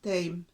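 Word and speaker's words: tijm: En holandés se llama thyme. Thyme. La I y la J se pronuncia EI.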